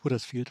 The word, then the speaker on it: Huddersfield: Huddersfield. The locals would pronounce it Hudasfield, but everybody says it a bit differently.